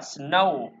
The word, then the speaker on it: snow: Nên chúng ta sẽ đọc là snow.